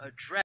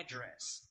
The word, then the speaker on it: address: I'm gonna say instead of address, I'll say address. How would Pakistani people pronounce that word? So our stress to this word is on the later part.